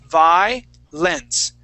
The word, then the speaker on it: violence: violence yeah violence okay so when we pronounce this word that that o that o doesn't exist to us okay um so we wouldn't say violence Vio we say VI lence okay so we're gonna pronounce that VI and then skip right to that lens violence violence violence violence